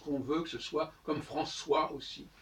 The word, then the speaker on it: François: Parce qu'on veut que ce soit comme François aussi. Comme c'est devant un O, on met une cédille, autrement ça serait Francois.